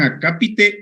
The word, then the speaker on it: acápite: esto no entonces escriban acápite o epígrafe acapite o epígrafe son dos palabras esdrújulas acá y te lleva acento en la segunda a y epígrafe tiene lleva